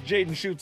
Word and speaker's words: Schutt: It's easy to remember how to pronounce Jaden Schutt's last name because he is a lights-out shooter from anywhere on the floor.